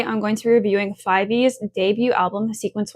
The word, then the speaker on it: F5VE: If you're wondering why I'm saying 5VE instead of 5, they explained on their social media that is how their name is intended to be pronounced, but I might slip